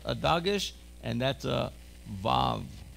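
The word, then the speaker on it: ו: Say with me, vav. Here's the vav, a V sound, v, v. Notice that the vet and the vav, both are V sounds.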